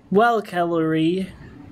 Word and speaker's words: Calary: Well, Calary rhymes with celery.